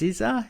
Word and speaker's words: SZA: It's a comedy in which she stars with, I guess it's pronounced SZA, S-Z-A, a singer who plays Keke Palmer's best friend in this.